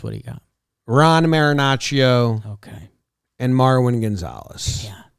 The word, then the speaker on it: Marinaccio: Marinaccio. Marinaccio. Joe's rolls the R's. It sounds pretty cool.